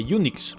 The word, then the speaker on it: Unix: ahora bien resulta que en inglés unix se pronuncia igual que eunucos y la proba de